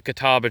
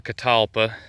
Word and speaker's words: catalpa: If you're not familiar with the Kataba tree, or catalpa, people pronounce it in different ways.